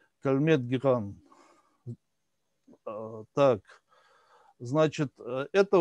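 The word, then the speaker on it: Calmette-Guérin: Ну, соответственно, на самом деле это французы, поэтому так как пишут в учебнике, это не совсем так произносится, но это так я вам для общего развития. То есть это Кальмет Гиран.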